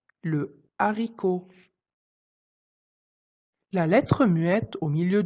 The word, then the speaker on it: haricot: est la lettre H le H ne se prononce pas quand il est en début de mot exemple un hérisson le haricot la lettre muette au